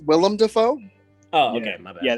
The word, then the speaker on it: Willem Dafoe: Like William Dafoe. You spelled William Dafoe wrong, dumbass. Actually, it's pronounced Willem Dafoe.